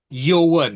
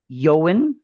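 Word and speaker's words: Eoin: Is that e o i n. How do you pronounce that? Yoan, I think yoan, I would say.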